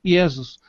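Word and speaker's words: Ἰησοῦς: é usada desde sempre, Iesos. A língua grega não aceita o Y. Logo, foi usada uma transliteração mais próxima do original, Iesos.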